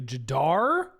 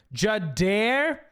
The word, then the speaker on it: Jadar: Play Jadar. Jadair. Jadair. Say it right. Frenchie.